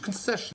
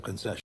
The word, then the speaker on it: concession: When pronouncing this noun, there are three syllables and the stress is on that second syllable. Concession. And another syllable stress rule for you is that when a word ends in s io n, the stress is going to come on the syllable before it. So that second to last syllable, concession. Another good rule to keep in mind.